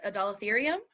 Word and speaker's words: Adalatherium: I think it's pronounced Adalatherium. Oh, that sounded great.